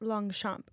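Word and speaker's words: Longchamp: go for the long what you pronounce it long CH long it's really pronounced long champ but it's long long champ and I said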